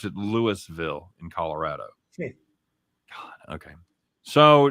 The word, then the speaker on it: Louisville: Oh, they pronounce it Louisville in Colorado.